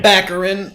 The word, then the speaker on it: Baccarin: Baccarin.